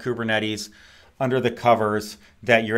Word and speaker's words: Kubernetes: gotten used to it my understanding is that we we butcher the pronunciation of kubernetes like we had some folks doing some training in Greece and I'm like did you get a hard time for how we all mispronounce it apparently it's like and Qyburn Metis is is is more more right so I don't know